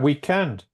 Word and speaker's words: weekend: noon afternoon what about weekend have two cables yeah and this stress is in end very good yes we